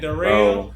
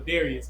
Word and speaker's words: Darius: They be saying Dell. Yeah, they be Darl. So that's why I just be telling people, let's keep it simple. Darius. My mama call me Darius.